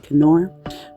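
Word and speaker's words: Knorr: oh oh it is um nor pasta or apparently it's um German pronunciation so it's supposed to be canor but yeah this is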